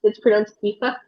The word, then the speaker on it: Eva: Actually, it's pronounced Ifa because Eva. in Oh. Cree or in Inuit traditionally there were some sounds that weren't there. So like V, for example, wasn't a sound that we had, and R's, I believe.